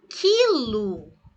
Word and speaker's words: quilo: Mas se eu digo, por exemplo, quilo, Esse QU aqui é como se fosse apenas um K, daí quilo.